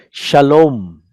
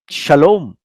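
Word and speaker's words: שלום: like a vowel, and it is pronounced as O, shalom. Not this is vav.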